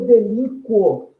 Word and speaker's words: delinquo: pessoa, eu falaria eu delinquo. Olha lá, eu pronuncio o som desse U.